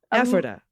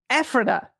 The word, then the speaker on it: Ephrata: Emphasis on the first syllable. Ephrata. Ephrata.